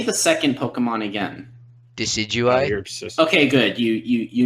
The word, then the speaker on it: Decidueye: Decidueye. You're obsessed. Okay, good. You know how to pronounce it.